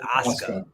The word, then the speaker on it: Asuka: But it's spel but it's it's pronounced Asuka.